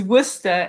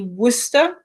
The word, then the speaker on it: Worcester: So I believe the correct pronunciation would be like Worcester. Yeah, very good, very good. It's Worcester, exactly, yeah.